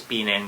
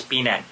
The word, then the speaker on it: Penang: So Penang, okay guys, because here in Singapore they pronounce it as Penang, but if I will speak on my native language, which is Philippines, it's Penang.